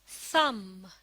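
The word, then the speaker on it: thumb: थम। इसमें letter B silent है।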